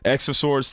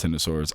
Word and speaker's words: X of Swords: T of Swords sorry X of Swords T of Swords I mean it's written X of Swords but it's supposedly supposed to be pronounced T of Swords I call the x